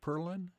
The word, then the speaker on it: Perlin: Is your last name pronounced Perlin?